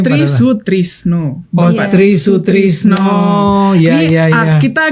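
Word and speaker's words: Try Sutrisno: Bapak Tri Sutrisno. Itu gampang banget kan, Tri Sutrisno. Kadang kan ada kayak Soe gitu, kadang kan kita Oh, iya, kalau iya, Gen Z iya, kan iya. bacanya Sotrisno gitu.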